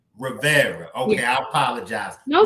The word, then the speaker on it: Rivera: Okay, you got the first name right. The last name is Rivera. Rivera.